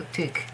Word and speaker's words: Eeteuk: So yeah, it's E, and then that is Eeteuk. TK, I'm not really talking about consonants because you just have to learn them, basically, okay? And the romanization is really usually very well written. It's T and K, so Eeteuk.